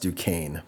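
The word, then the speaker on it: Duquesne: It's pronounced Dukane, but it's spelled Duchesn.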